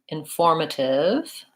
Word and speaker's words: informative: So if I'm doing informative or communicative, the rule is going to be that it's going to depend on what the root is. So for informative, my stress is on form, but in communicative, three